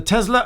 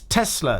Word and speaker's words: Tesla: of a trivia here somebody pulled up in the comments and said it's Tesla not Tesla to which I responded well Elon musk's company and he pronounces it Tesla so I'll pronounce it